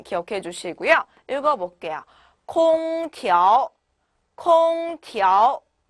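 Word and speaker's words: 空调: 空调 네, 调 같은 경우에는 TRO 모음이 3개가 붙어 있고요. 调 네, 부드럽게 올라가시기만 하면 돼요. 자, 읽어볼까 다시 空调 네, 이렇게 읽어주시면 되시겠죠.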